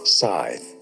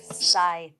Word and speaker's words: Scythe: now video game how do you say it scye scye so I was right I think you were